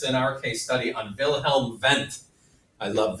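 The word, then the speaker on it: Wilhelm Wundt: our case study on vilhelm vent I love vilhelm vent I like German words in general because the W's are pronounced like V's vilhelm vent how can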